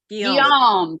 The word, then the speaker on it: Guillaume: Again, he worked for Charles VII, the treasurer of France, Etienne Chevalier, and the chancellor, Guillaume, not sure how to pronounce William, Heather, help me out. Guillaume Juvenal des Ursins. Guillaume, thank you.